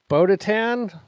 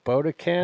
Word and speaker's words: Bo-Katan: Black Widow versus Bodatan. Is that how you sound pronounce it? Close. There's a K in there. Bo Bodacan. It's like Bokeatan.